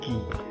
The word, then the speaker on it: qui: Kemudian ini juga u-nya nggak dibunyikan, ki.